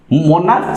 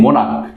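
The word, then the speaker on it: monarch: अगर सी एच है, लेकिन ये सी एच चर्च जैसे चर्च च प्रोनाउंसिएशन होता है, लेकिन स्टोमक में ये स्टोमक नहीं स्टोमक, मोनार्च नहीं मोनार्क, ठीक है।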